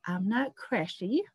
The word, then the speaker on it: Aamna Qureshi: later but i am joined today by author i'm not crashy and actually did i pronounce that right chris yeah you did yeah